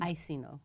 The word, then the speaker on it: Iacino: almost out of here so my guest it's pronounce it correctly I see no I see no Catholic Charities thank you so